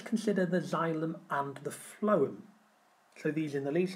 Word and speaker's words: phloem: So I go off the F sound, the phloem carries food, even though it's spelled with a P and an H.